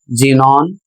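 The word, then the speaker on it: xenon: इसे पढ़ा जाएगा जेनोन और यह एक प्रकार की गैस है।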